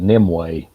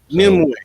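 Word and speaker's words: Nimue: you um I've heard I've heard somebody pronounce it nimway nimway there it is yes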